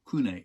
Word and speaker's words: CVNE: um monogram put out it was the cvne and in spanish doesn't kind of work so kunai is how people read it and pronounced it ever since grant so at the